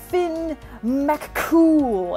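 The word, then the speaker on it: Fionn mac Cumhaill: community is saying slow it's pronounced Finn McCool and I'm just all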